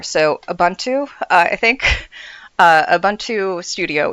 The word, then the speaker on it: Ubuntu: uh sorry Large Bastard had to teach me how to say this but Ubuntu I had the N and the and the B transposed for ever. So, Abuntu, I think, uh, Abuntu